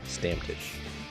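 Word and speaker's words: Stammtisch: me let me uh let me repronounce that stamptish stamfish yes i'm gonna spell it for you guys s-t-a-m-m t-i-s-c-h stamtish is that hungarian it's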